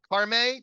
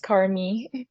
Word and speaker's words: Carmi: And then we have Carme. Did I say that correctly? Almost Carmi. Carmi. All right. 2 syllables out of 3 or 1 out of 2.